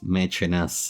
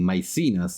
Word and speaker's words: Maecenas: I think I have pronounced Maecenas, Mecenas, Mecenate in 100 different ways, so I will now start using Maecenas. That seems to be the most English pronunciation.